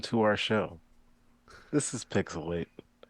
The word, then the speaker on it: PixelHate: our show this is pixelate where the H is silent but the hate is oh so real and I am the